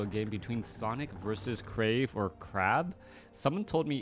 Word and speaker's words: Krav: when I know it's it's crave but you spell it like a crab wait what no like the word crave okay I'm so confused